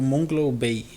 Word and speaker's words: Moonglow Bay: E a gente está aqui hoje com a Luciana, que está participando do desenvolvimento, né, do jogo Moonglow Bay. É assim que pronuncia?